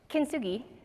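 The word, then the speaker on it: kintsugi: yes I also had to Google how to pronounce it it's kinsugi it is the Japanese art of repairing broken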